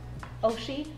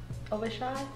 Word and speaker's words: Oishi: How do you say this? Oshi. Say it again. Oishi.